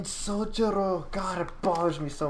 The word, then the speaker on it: Sojiro: Sojiro, don't say it like that. It's fucking Sojiro.